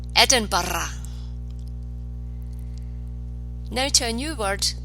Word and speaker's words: Edinburgh: Scotland's capital city roll the R or to Edinburgh Edinburgh no to a new word that you may